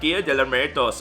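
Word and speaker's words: Día de Muertos: And I was trying so hard to pronounce and finally I got it. Alright, Dia de Muertos, alright?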